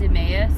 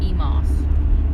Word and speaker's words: Emmaus: Like there's Emmaus, but some people call it Emos.